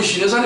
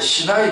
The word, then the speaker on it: 시나이: 그 시내산이 어디 있어요? 시내물에 있어요? 이스라엘. 아라비아의 시나이 반도에 있어요. 그래서 시내산은 우리 한국의 말하고 발음이 비슷하잖아. 원래는 시나이입니다. 시나이. 시내 아닙니다.